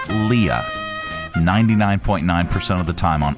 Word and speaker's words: Leah: Top names, common names everybody pronounces wrong. Leah. Okay, 99.9% of the time on Earth, it's Leah.